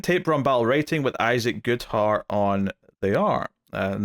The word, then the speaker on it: Goodhart: Batgirl issue 7, Tape BROMBAL writing with ISAAC GOODHART on the art. And that rhymed because his name rhymes with art.